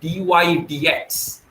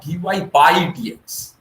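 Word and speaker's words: dy/dx: although the symbol is bar but the right pronunciation is d y d x it is not d y pi d x it is d y d x so the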